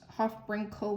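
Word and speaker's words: HOFBrINCl: It's pronounced Hofbrinkel with like a K sound instead of like a Cl.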